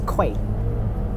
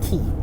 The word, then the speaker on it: Quay: And I was like, oh, just pronounce it as the door key, just key. Just pronounce it key.